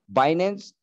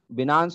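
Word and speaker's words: Binance: बाइनेंस, बिनांस भी बोल सकते हैं, बाइनेंस भी बोल सकते हैं हम, जो हमारा प्रोनाउंसिएशन है।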